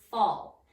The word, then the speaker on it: fall: Okay, the first sight word that you have is the word fall, and it's F-A-L-L. Fall. And fall is tricky because it has an A in the middle, not an O. Sounds like an O.